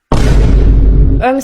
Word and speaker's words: homme: Homme, ça s'écrit avec un H mais qui ne se prononce même pas.